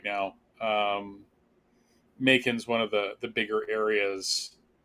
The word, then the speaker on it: Macon: Macon, bacon, I guess it's pronounced the same way.